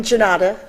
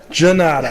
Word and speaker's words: Gannotta: It's Italian, Gannotta. Gannotta.